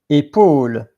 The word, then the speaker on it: épaule: So the next one that I would like to place is this one, épaule or épaule. Sometimes you pronounce the E and sometimes the E is silent. Épaule, épaule.